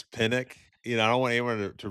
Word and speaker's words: Penick: success to Penick's teachings, or Penick, Penick. Yeah, I was Um, gonna say, we might be getting to the no laying up, yeah, Neil Schuster, mispronunciation. I think it's Pinnock.